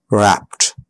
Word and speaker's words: wrapped: But a lot of time, the E is not pronounced. Looked. Asked. Played. Baked. Wrapped.